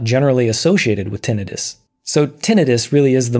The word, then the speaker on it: tinnitus: Tinnitus is spelled I-T-U-S. It's not an itis, in other words. And in fact, inflammation is not generally associated with tinnitus.